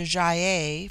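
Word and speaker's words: Gy-ei: hard as in gai it forms itself into jae for the plural but the g becomes soft in the plural like j-y-e-i they have a proverb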